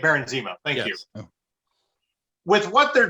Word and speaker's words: Baron Zemo: the other episodes uh vaughn von zero am i pronouncing that correctly aaron zeno yes thank baron zemo thank you with what